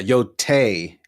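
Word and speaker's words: Yōtei: Wait, so that's so every time I've been saying Ghost of Yotai, I've been saying it wrong. I've been saying Ghost of Yotai. Yeah. Yeah, Yotai is correct.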